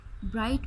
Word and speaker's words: bright: bright में T is silent, sorry GH is silent, ठीक है ना, bright, ठीक है।